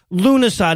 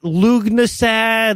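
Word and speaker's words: Lughnasadh: It's a Gaelic word. Yeah. And by law, all of those have to have a G and a bunch of unnecessary H's. And but it's pronounced Lunasa, not Lugnasad, Lufensad, Lugian salad, or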